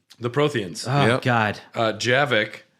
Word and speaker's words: Javik: Javik. It's Javik, right? I think it's Javik. Oh, I call him Yavik. Javik. Yeah. Yavik, yeah. It's not Okay. Yavik, it's Javik.